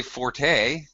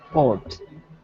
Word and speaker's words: forte: Don't say forte. They what? Forte. Fort. Well, I did not know this. The word is spelled with an E, but the E is pronounced only when speaking of music.